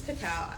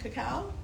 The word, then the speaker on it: cacao: This is cacao. I always say it wrong. Cacao? Cocoa? I think cacao is the right one.